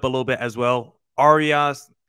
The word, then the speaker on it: Arraez: Arias, how do you pronounce the name? Arias, is that how you say it? Luis Arraez.